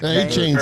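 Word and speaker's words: Achane: And if you want a prop bet Akane. Is it Akane? How do you say his name? He's hurt. A-Chain's out.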